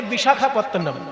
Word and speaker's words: বিশাখাপত্তনম: যেযে বড় স্টেশনটা নামতে হয় সেই বড় স্টেশনটার নাম হচ্ছে বিশাখাপত্তনম।